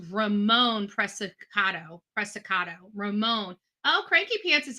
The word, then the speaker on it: Preciado: It's called Preciado. Preciado. Is that right? Am I saying it right? Preciado. This is Ramon Preciado. Ramon. They say his name is pronounced Ramon Preciado.